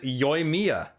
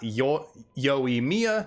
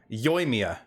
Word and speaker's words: Yoimiya: She says it Yoimiya. Not Yoimiya, not Yoimiya, Yoimiya. So that is how I will pronounce it, and that is how it is meant to be pronounced.